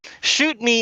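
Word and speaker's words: Chute Mi: is the weird though cause shoot me is spelled c-h-u-t-e space mi but it sounds like you're asking someone to to shoot yourself like like s-h-o-o-t-m-e so saying shoot me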